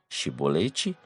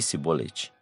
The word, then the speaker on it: chibolete: dialeto é imita e eles não conseguiam articular e pronunciar o som de ch nessa palavra e a pronunciavam de uma forma diferente Ou seja o simbolete aqui no Brasil temos